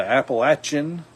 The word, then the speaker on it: Appalachia: or a long a now while I was in Kentucky I was taught that they say this is Appalachia like I'm going to throw an Apple at you that's how they say it and that was how